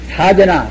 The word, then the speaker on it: 사제: 그러면 아까 말한 선불의 법이 사제나 또는 12년이나 또는 육바람이나 이와 같이 법이 있다고 말씀드렸는데, 그런 가운데도 이 사제법문, 신실할 채자인데 아까 말씀하셨다만 사제라고 이것은 음편상 그렇게 발음합니다.